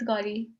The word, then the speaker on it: Gauri: I think that's how it's pronounced. It is Gauri.